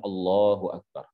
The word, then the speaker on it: Allahu Akbar: harus dengan menggunakan bacaan Allahu Akbar dengan benar dengan lafaz yang benar tidak sah kalau seseorang membacanya dengan memanjangkan huruf-huruf ba Allahu akbar misalkan ya dengan memanjangkan huruf ba maka tidak sah salatnya